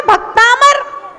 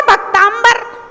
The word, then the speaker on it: भक्तामर: अब समस्या ये है कि लिखा तो है भक्तामर और आदमी उसमें पढ़ रहा है भक्तांबर।